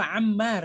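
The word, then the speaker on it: عمّار: Bukan Umar, itu Ammar ya. Kalau Umar tidak ada pakai alif ya kalau Umar. Nah, Ustaz. Ya, kalau demikian namanya Ammar bacanya ya.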